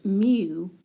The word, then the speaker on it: mu: It's actually pronounced mu and so this is used to represent the